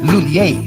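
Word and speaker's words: M Lhuillier: Lulier? English speakers commonly pronounce it as Lulier. But for Filipinos, mas madaling ibigkas ang Lulier.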